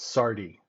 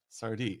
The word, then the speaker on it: Sardi: we are we are it's pronounced just like the restaurant in New York which is spelled with a d instead of a t and we are related